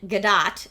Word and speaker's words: Gadot: The T in Gadot is pronounced.